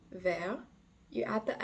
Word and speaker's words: vert: more than one thing it will sound like vert so again the S is silent but the masculine will sound like ver